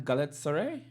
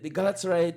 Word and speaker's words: Galatasaray: Um, Liverpool is sitting and they're waiting on Galatasaray. Yeah, I think that's how you pronounce it.